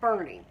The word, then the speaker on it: Boerne: outside of San Antonio, called Boerne, but it's spelled Boerne. It was named after our founder or something. But anyway, they live in Boerne.